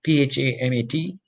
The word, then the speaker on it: PHAMAT: And one example is this PHAMAT, P-H-A-M-A-T, or I pronounce it as PHAMAT, is actually the fusion of PHA and rhamnolipid together.